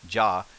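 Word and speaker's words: じゃ: iran ji and ya ja as in um john or not necessarily jaw but ja so this is chi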